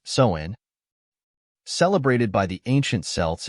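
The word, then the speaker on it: Samhain: 2,000 years ago with a festival called Sinn pronounced soen celebrated by the ancient selts in what we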